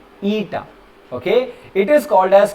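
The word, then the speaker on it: η: लेग बड़ा होगा, ईटा, इसको प्रोनाउंस करवाएंगे ईटा।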